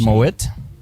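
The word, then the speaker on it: Moët: I liked how you said Moet. No, 90 the T Moet. is silent.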